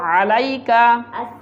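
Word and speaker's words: عليك: বাত, একসাথে ওয়াত্তাইয়িবাত, আসসালামু আলাইকা, আসসালামু, বলো আলাইকা, এখানে আইন উচ্চারণ করতে হয়।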